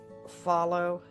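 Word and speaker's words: Fahlo: These are from a company, Follow. They spell it F-A-H-L-O.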